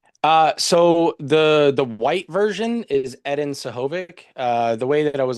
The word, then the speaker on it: Edin Sehovic: But my name pronunciation is Edin Sehovic.